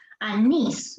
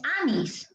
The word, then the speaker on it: anís: Aquí está el acento en esta sílaba. Anís. Voy a tomar un anís caliente, anís. No es anís, ¿no? A mí me gusta el anís. No. Entonces, aquí está y lleva tilde.